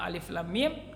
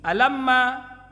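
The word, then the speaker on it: الم: Maka ketika dia membaca Al-Quran, awal surat yang alif lam mim, dia membacanya bukan demikian tapi alamma, seperti itu.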